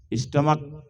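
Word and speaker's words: stomach: spelling क्या होगी हां एस टी ओ एम ए सी एच स्टमक लिखा जाता है सीच और पढ़ा जाता है सी केवल क सी से क तो पढ़ा क्या जाता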